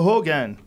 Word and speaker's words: Rogan: tomorrow are you yeah it's it's spelled with an R but the the Portuguese see please use these H they call me Joe Hogan Joe Hogan there he